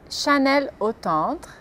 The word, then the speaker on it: Chanel: tarde então as as palavras são e a pronúncia correta é Carrefour paban jeer la lanc Chanel Citro Peugeot Rena e algumas atries famosas como